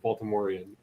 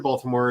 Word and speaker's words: Baltimore: happen yeah because Baltimore in Baltimore is pronounced Balmer balore is Balmer Balmer